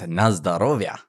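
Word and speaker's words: на здоровье: It is Nazdarovia.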